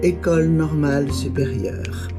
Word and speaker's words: École Normale Supérieure: So you're going to listen to her pronounce the school right now. École Normale Supérieure.